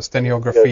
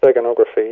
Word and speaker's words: steganography: And this guy, Trithamaeus, what kind of subject were he, involved in behind the scenes with this I can't pronounce it, stenographia? Yeah, long word, steganography.